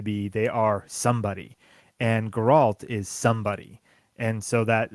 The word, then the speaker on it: Geralt: Geralt. You're putting the emphasis on the wrong syllables. Ah, okay. So Yeah. do it again, but slow. Geralt. Geralt. So Alt. Geralt. Yep, Geralt. I did it.